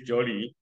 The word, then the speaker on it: Jolie: please okay ready go yes it's Jolie that's j o l i e yeah it's j that is j l i e okay got it yeah it's is J okay is J you can say my name is Jolly okay fine no problem